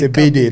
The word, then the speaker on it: Ebedi: So at this point, before moving to Ebedi, I was it's Ebedi. That's the right pronunciation.